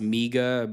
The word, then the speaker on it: MIGA: For anybody who doesn't know, it's really supposed to be pronounced MIGA, but he's kind of like, Alex Jones is messing with him.